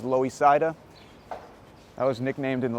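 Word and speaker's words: Loisaida: see there it says loe saida that was nicknamed in the late 80s to commemorate the puerto rican uh it's kind of cool did you know that's what it's pronounced still low ecida so we're gonna take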